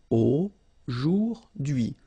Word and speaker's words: aujourd'hui: H is not pronounced, so you only get this dui thing. Aujourd'hui.